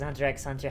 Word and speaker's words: Hunter x Hunter: go start a fight you're supposed to pronounce the x Hunter x Hunter have fun yeah I